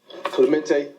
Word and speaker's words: Clemente: Clemente. Okay, spell it. How it's spelled, the correct way is Clemente. Thank you. Like Roberto, right?